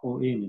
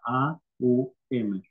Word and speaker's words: Om: que es el om el om no se pronuncia om se pronuncia a u m que es el la